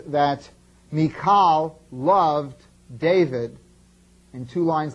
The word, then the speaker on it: Michal: first individual that we're interested in is named mikal uh sometimes you'll hear it pronounced Michael uh mik makes it a little easy to